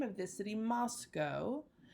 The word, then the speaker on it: Moscow: throughout this lecture and this unit that I pronounce the name of this city Moscow not Moscow Moscow is not correct Moscow is correct please join me in being picky